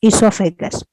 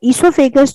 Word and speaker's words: esophagus: This is known as the esophagus. ठीक है, it's known as the esophagus. You will find in some old books it's written with O. O is silent. ठीक है। अच्छा, esophagus जो है वो food